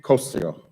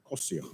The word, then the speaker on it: Cosio: Cosio, I didn't say it right, Cosio, better? Okay.